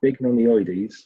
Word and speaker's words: bignonioides: My top tip is to break it down into syllables. So bignonioides, 12 words, 4 syllables, 3 letters per syllable.